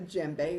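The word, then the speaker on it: djembe: at home like a JBE is what I'm using here it's spelled d j m b e you don't pronounce the d you have to keep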